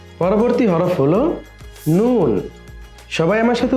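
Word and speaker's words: نون: মিম পরবর্তী হরফ হলো নুন সবাই আমার সাথে উচ্চারণ করো পরবর্তী হরফ নুন নুন নুন উচ্চারণের সময় জিহবার সামনের অংশ উপরের তালুর সাথে লাগবে সবাই আবার বলি নুন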